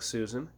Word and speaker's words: Sujan: His name is Susan, but it's spelled Sujan. But the way he says it, it sounds like Susan.